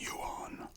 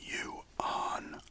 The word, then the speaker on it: yuan: It's yuan. I poured this. Sounds like you on.